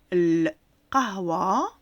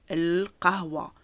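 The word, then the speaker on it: القهوة: On va apprendre à écrire le mot al-qahwa. Donc l'alif avec l'em. Je vous les mettrai toujours en rouge, c'est le déterminant. Alif fatha ou lem soukoun, on se prononce cela el.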